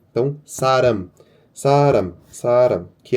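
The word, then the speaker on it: 사람: E a segunda é o que eu falei, o r ele tá na primeira posição, então ele vai som de r. Então saram.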